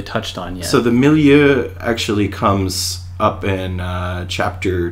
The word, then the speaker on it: milieu: which is quite literal but Millia if you look at it it's me mi - Lou so it's meant to